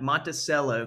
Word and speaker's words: Monticello: top of the map, Monticello, Kentucky. That's how they say it there.